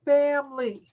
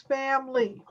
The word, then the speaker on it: family: family that's another one it looks like it has three syllables family but the way we pronounce it is two syllables family so what you're saying is family so it's two syllables